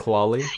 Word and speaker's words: Klali: Did I pronounce it right? Klali? Yeah, you did. Klali, yeah.